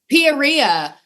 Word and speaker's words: Peoria: Peoria. Some person in the bar said that it's Peoria. It rhymes with gonorrhea.